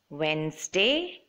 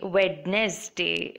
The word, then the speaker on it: Wednesday: aloud to you guys Wednesday hand kerchief sandwich handsome bridge so I've seen a lot of people say Wed Nestea but that's not the way it's supposed to be